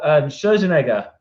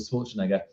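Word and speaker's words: Scherzinger: Then Nicole Scherzenegger, I think that's how you say it. I always get it wrong. I always call it Schwarzenegger.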